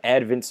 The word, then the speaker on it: Advance: 25 years old from advents north carolina spelt like advance but the stressed syllable is in a different place two seamer low in